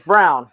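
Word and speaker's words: Braun: He's coming, and it is Brown. I am incorrect. I have been saying it wrong.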